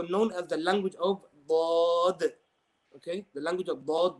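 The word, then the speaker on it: ضاد: But inshallah, we'll discuss the letter Dad in depth.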